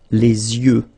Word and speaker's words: yeux: and then the plural, les yeux. Okay, you make this liaison between the two. Les yeux. Okay, final X not pronounced. Les yeux.